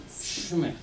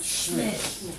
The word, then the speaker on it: Schmidt: Schmidt. Yeah. Pronounce that again. Schmidt.